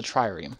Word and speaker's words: trireme: Oh, and I figured this out from watching Mythbusters, that the name of this boat is actually a trireme. I didn't see the second R, it's a trireme.